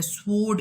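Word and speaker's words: sword: for example देखें school, तो school में एच साइलेंट है, डाउट में बी साइलेंट है, स्वोर्ड इसमें डब्ल्यू साइलेंट है, किचन इसमें टी साइलेंट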